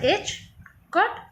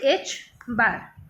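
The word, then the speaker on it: ħ: This is represented as h cut, or this is pronounced as h cut, or this is h bar.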